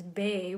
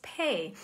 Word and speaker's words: Bay: And I thought it was kind of interesting because my last name is Bay, which in English people pronounce as Pay.